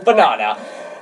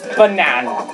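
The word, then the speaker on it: banane: For example, banana.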